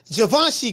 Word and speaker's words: Givenchy: Hey, Foodie say it's pronounced Givenchy, coach.